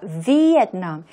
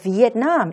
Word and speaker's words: Vietnam: 우리말로는 베트남, 영어에서는 여기 보시는 그 V 발음을 해주셔야 되고요. 그 다음에 I가 있잖아요. 이 I를 발음을 해줍니다. 베트남이 아니라 Vietnam. 그래서 Vietnam 이렇게 되고요.